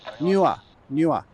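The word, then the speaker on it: Neewer: Newer. That's the tripod. It's that, it's spelt funny.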